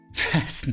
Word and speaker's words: fasten: Fasten is but the T in fasten is silent.